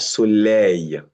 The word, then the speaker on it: soleil: AI followed by L. It becomes Y. We call it the yod sound. Y. We have soleil.